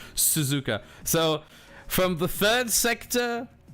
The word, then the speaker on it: Suzuka: we're going to suzuka oh suzuka sorry gotta pronounce it correctly suzuka so from the third sector being the s's